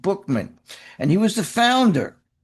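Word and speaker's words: Buchman: Frank Buckman. Frank Buckman was the founder. Actually, it's pronounced Bookman, spelled Buckman, B U C H M-, but it's pronounced Bookman.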